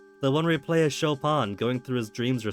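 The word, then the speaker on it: Chopin: all that big into shopan shopan the the the Polish composer don't tell me you've been pronouncing a choing all this time okay that door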